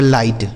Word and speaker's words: light: ठीक है, LIGHT, तो LI से दोस्तों हो गया ल, सॉरी L से ल, आई का उच्चारण आई हो गया लाई, और GHT का उच्चारण ट हो जाता है, लिखा गया लाइट।